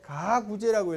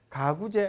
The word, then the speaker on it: 가구제: 읽을 때 가구제라고 읽어야 돼. 가구제 아니야. 가구제라는 말은 세상에 없어.